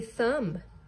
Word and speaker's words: thumb: Number six is a thumb.